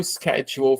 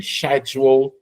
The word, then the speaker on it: schedule: they say with no schedule for discharge. So some people say schedule other people say schedule. Um I prefer to say schedule.